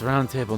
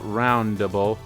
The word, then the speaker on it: round table: It's round table, not roundable.